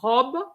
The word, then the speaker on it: robe: that but it's not robe is a Rob it's oh it's an open o Rob and um you